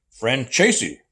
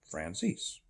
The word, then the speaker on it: Frances: and he said uh Steve it's pronounced friend chasy I said no it's not it's pronounced Francis how do I know